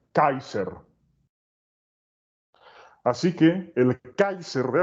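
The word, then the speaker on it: Caesar: no es una matriz se pronuncia kaiser así que el kaiser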